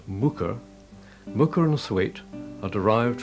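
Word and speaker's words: Muker: Pronounced Mooker, Mooker and Thwaite are derived from Old Norse words, meaning a small cultivated field and a woodland clearing, respectively.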